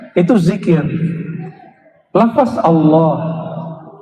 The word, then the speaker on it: Allah: Lafaz Allah. Coba baca Allah. Saya orang Sunda bacanya Allah. Ya, Al itu bukan dia lam ketemu lam. Allah. Harus disambung bukan mati Allah.